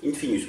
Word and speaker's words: Infinus: C'est l'Infinus ou l'Infinus comme vous voulez, ça dépend comment vous prononcez, si vous prononcez un ou in. Infinus, moi je dis.